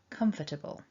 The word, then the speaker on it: comfortable: got four syllables and the mark top left tells us that the first syllable is the strong or stressed syllable comfortable so beginning with the